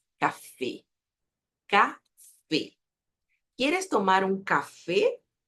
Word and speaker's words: café: Eu mantenho o som da letra E a pronúncia correta é café.